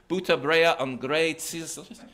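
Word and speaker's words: Bûter, brea en griene tsiis: crew of captured ships were asked to say "buta brea on grey tzis," which is butter, rye bread, and green peas in Frisian. And those who could not pronounce it the Frisian way were beheaded.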